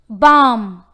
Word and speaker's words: balm: Balm. Balm. The answer is L.